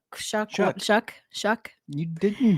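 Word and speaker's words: Shough: They drafted a new offensive lineman and drafted uh Tyler uh Shook. Shuck.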